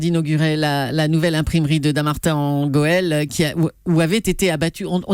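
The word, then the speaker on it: Dammartin-en-Goële: Hier, François Hollande inaugurait la nouvelle imprimerie de Dammartin en Goël où avaient été abattus, on dit bien ça, hein, oui, ça se prononce comme ça.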